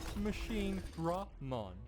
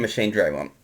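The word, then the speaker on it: Machinedramon: Pronounced Machine Dramon. He's very sensitive about that. And So, let me explain Machine Draymon.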